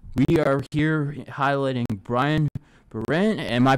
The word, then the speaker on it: Berard: Now, the plan for today, now that we got that out of the way, we are here highlighting Brian Berard. Am I pronouncing that right? Berard. Berard, okay.